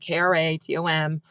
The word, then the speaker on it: Kratom: And sometimes I'll spell it out, Kratom, or I'll say it rhymes with schmatum and starts with a K.